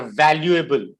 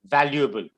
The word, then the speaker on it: valuable: All members are valuable. valuable. What you're pronouncing is valuable. It's valuable. Valuable. So say value. Value. Able. Now say valuable.